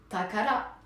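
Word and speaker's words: 宝: Takala pasokané tala Takala qui se prononce donc pour ce kanji Takala vous voyez que là c'est le kanji bijou qui apparemment se prononce Tama pour la sphère Tama et là c'est Takara voilà exactement on est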